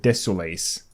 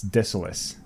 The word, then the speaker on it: Desolace: nests so deceleus oh i could never pronounce the name of it correctly when i was younger i didn't know uh desolace we i think me and my friends used to call it desolace but it's deceleus it is very desolate